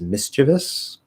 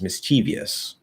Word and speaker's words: mischievous: and i guess the the correct way to say it is mischievous if i remember right and the incorrect way is mischievous and i will tell you right now that both of those are 100 correct and it does